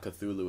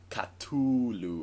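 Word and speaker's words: Cthulhu: whole cthulu stuff because it's actually it's not cthulu it's like culu or something yeah I heard about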